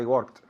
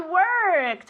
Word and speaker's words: worked: I work yesterday I worked I worked okay careful with this verb okay work oh you write it with an O but it's pronounced as if it were with an E worked with a t